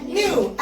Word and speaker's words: knew: knew. أي كي يجي وراها ان الكي دايما صاعد.